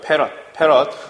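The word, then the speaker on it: 패럿: 요놈의 단위는 우리가 F로 쓰고 요놈을 뭐라고 읽어? 페럿이라고 읽어요. 페럿.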